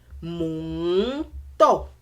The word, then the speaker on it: Mò ń tọ̀: So do mi do. Do. Mi do. Mò ń tọ̀. This is how you say it.